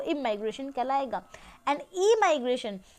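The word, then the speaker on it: emigration: देखिए, this is pronounced as इमाइग्रेशन and this is pronounced as ई माइग्रेशन।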